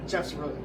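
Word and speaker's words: Geoff: Galantis Jeff's they saying I thought it's spelled G E O F and I thought it was GF and I was like GF coming. He goes no it's Jeff.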